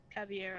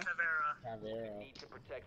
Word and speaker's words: Caveira: You do realize you pronounced her name correctly, right? Who? Caviera. Caviera.